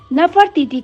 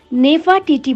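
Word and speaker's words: Nefertiti: नाम था नफर तीथ अलग-अलग भाषाओं में नफर टीटी का उच्चारण अलग-अलग है जैसे अंग्रेज लोग इसे नेफा टीटी बोलते हैं अमेरिक लोग बोलते हैं नेफर टीटी खैर तो हमारी कहानी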